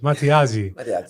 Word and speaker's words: Matteazzi: I never asked you how to pronounce it. Matteazzi.